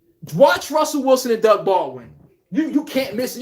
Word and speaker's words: Baldwin: Every team needs to draft a Doug Baldwin. Get a guy that you could develop and throw him with Lamar and these mobile quarterbacks where the guy doesn't I said it wrong. I said Doug Baltwin.